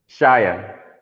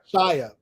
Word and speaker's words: Shaya: Your name is pronounced Shaya? Shaya. Shaya.